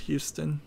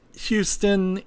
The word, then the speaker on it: Houston: It's pronounced Houston in Texas and spelled that way, and it's spelled exactly the same way in New York. There's an area in Manhattan called Soho, which stands for south of Houston, Houston. So it's spelled exactly the same way, pronounced differently. Houston, from what I heard,